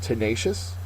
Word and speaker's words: tenacious: finally our last word tenacious second syllable is accented it is an adjective